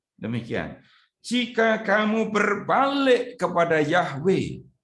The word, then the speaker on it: Yahweh: Jika kamu berbalik kepada yahwe bacanya harus begitu supaya menjadi jelas Yahweh adalah Allah Israel dengan segenap hati Maka